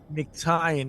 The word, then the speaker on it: Mictian: Spell it again. It's McTian. It's MICTIAN.